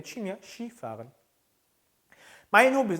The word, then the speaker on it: Skifahren: 써있기는 스키라고 써놓고 쉬라고 읽어요. 그래서 Skifahren 이라고 하면 뭐냐면 스키를 타다라는 뜻이에요. 재밌죠 발음이? Mein Hobby ist Skifahren. 나는 스키 타는 게 내 취미야. Skifahren.